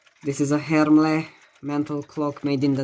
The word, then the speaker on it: Hermle: Inside it uses a Hermle. I have to stop pronouncing it like that. I need to pronounce it the German way. Hermle.